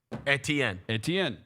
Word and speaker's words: Etienne: It says E-T-N. Etienne. Yes. Because that's how it's spelled, Yeah.